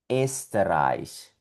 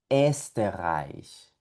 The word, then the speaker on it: Österreich: Esta O umlaut tiene un sonido parecido a la E también. Por lo tanto, esta palabrita de por aquí que vemos que tiene una O umlaut sonaría Österreich, Österreich, Österreich.